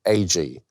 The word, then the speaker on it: Agee: And I said, Agee, A-G-E-E.